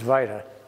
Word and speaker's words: vita: Everybody says vita, but it's the traditional pronunciation is vita.